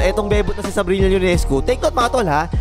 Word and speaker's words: Ionescu: Take note mga tol ha, letter I ang umpisa ng surname niya, hindi letter L ha. Ionescu, parang yung jowa ni Vice Ganda yung spelling no, Ionescu. Pero Ionescu yung bigkas.